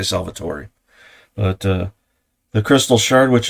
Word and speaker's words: Salvatore: And then you have the first Aria, I pronounce it Salvatore because it's Italian, but other people have said it's Salvatore, so I say Salvatore.